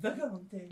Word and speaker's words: Vagante: First off, you gotta say it like it's an Italian dish. You gotta call it a Vagante. Alright, Vagante.